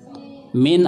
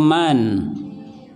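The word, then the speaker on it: مِن: Suma berikutnya adalah kiapa mint atau Man ya yang huruf itu Min kalau Man bukan huruf ya bacanya mint yang sering diterjemahkan Sri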